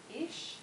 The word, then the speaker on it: ich: um your pronunciation of ich in the beginning with ish which I was well schooled that it is the Viennese pronunciation which doesn't make it wrong it's just a different